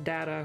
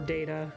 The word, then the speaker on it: data: looks like this is this is data or data i i i pronounce it both ways because both are technically correct i'm pretty sure